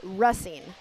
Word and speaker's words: Racine: spend an entire game trying to get a pronunciation right, but it's important to me. It's Racine.